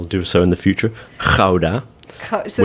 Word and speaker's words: Gouda: so in the future, Gouda. So it's not Gouda cheese. It's not Gouda, it's Gouda. Gouda. Gouda, right? Gouda. Gouda. It has that K sound. Very guttural G, yeah.